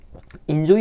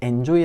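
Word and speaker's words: enjoy: 끼어있는 발음할 때 있죠 인조 이라고 해야 되는데 엔조이 라고 한다거나 x plus 라고 해야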